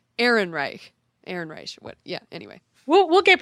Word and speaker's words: Ehrenreich: And I want to say Erish because we know Erish. Erish, exactly. So I get confused, but it's Alden Ehrenreich.